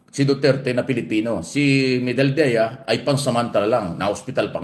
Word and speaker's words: Medialdea: Ayan naman pala eh Medel medal Dea ayan yun mo ung tamang pronunciation pala diyan Salvador medial del Dea medal Dea Yun po yung abogado